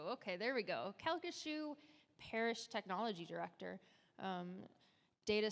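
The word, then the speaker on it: Calcasieu: 20 years and I don't know how to pronounce this but I will try the cassu parish kashu okay there we go kashu Parish technology director um Data Center and communication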